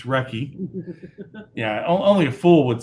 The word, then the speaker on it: recce: about the um the recce uh which by the way don't pronounce it reese it's wrecky yeah only a fool